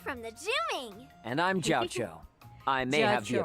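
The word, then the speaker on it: Jiaoqiu: And I'm Jiao Cho.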